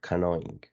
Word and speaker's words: canoeing: You mute the letter E and pronounce just like that, canoeing, right?